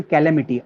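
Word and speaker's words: calamity: ये हमारे लिए एक आपदा है, नहीं कैलेमिटी है, इसका सही प्रोनाउंसिएशन कैलेमिटी, आपदा, ध्यान रखना।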